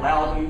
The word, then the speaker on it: Loudoun: I don't think it's possible to support a family in Loudoun County, Virginia, with four children. Loudoun, sorry.